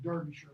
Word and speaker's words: Derbyshire: Warwickshire here, north to the northern part of pronounced Derbyshire, by the way, to Manchester to Blackpool up here, okay?